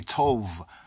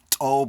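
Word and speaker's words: טוב: say in modern Hebrew, they say Tov, but that's the European pronunciation. The word actually properly is pronounced as Tob or Tawab.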